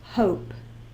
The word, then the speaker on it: hope: to say hope so we use the silent e push out up down around in the same box and the E makes the o say it it's long sound o hope now when you spell